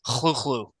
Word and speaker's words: Cthulhu: Lulu and nobody pronounces HP Lovecraft said it should be connected because Lovecraft in a letter said it should be something like Hulu yeah yeah um if